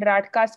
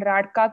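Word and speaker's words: Rajka: So this criteria is known as Hanifin and Radka criteria. The J is silent. It's called Hanifin and Radka criteria for atopic dermatitis.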